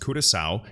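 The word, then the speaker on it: Curaçao: actively being utilized by this dutch caribbean island pronounced curacao in their top bank vidinova or vida nova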